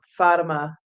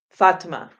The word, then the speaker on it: Fatima: Fatima. So at any rate, what's that? Fatima. Fatima.